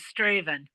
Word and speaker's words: Straven: I think Straven, VIN, it's a small little, very small town. That's how I used to hear Daddy pronounce it, was Straven.